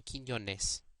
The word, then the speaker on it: Quiñones: QU only appears before E and I in Spanish. It is pronounced K. The U is silent, as in Quiñones or Que.